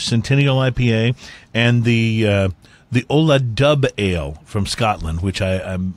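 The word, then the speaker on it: Dubh: We're also going to be trying a Founders Centennial IPA and the Ola Dub Ale from Scotland, which I'm looking forward. Dub, by the way, is spelled D-U-B-H. Dub.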